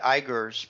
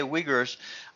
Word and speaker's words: Uyghurs: And I I think that the Uyghurs are I didn't know how to pronounce it. I was thinking it Uyghurs, but okay, Uyghurs.